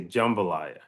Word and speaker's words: jambalaya: my way to find jambalaya and everywhere we went there was no jambalaya all right so well you got say it you gotta say it like the locals do you gotta say jumbalaya so it's like J well